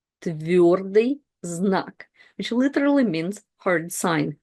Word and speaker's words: твердый знак: It's твердый знак. Твердый знак, which literally means hard sign in Russian.